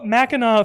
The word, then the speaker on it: Mackinac: maple Mackinac Mackinac Maple Mackinaw fudge it's spelled like Mackinac because um his spelling that's how it works um and yeah that's